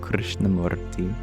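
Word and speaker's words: Krishnamurti: and Al you share you might get his name wrong but do I like JD Krishna morti you got it perfect I have also heard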